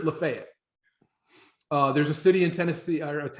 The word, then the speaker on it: Lafayette: you would look like and say oh that's lafayette well here it's lafayette uh there's a city in tennessee a town